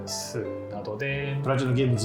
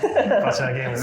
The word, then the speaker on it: Platinum Games: Previously, I worked at Platinum Games. It's Platinum Games, more of a "z" sound.